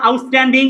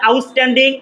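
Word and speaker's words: outstanding: এখানে চিটা ছয়ের মতো উচ্চারণ হবে না, টয়ের মতো উচ্চারণ হবে।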